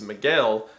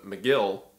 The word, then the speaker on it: Miguel: company whose name is Miguel but the Americans don't care to pronounce it correctly so they just call him Migel there's a scout named